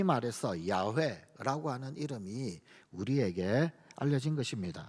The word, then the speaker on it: 야훼: 히브리인들에게 전해진 이름, 그 이름은 여호와, 사실은 좀 더 히브리 발음으로는 야훼라고 하는 발음이 더 정확한 이름입니다.